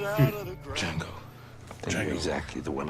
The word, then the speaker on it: Django: Django. You're Django. exactly the one I'm looking for. The J is silent.